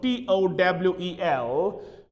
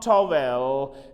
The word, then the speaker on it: towel: is the pronunciation of t-o-w-e-l it is not towel it is towel towel towel vowel vowel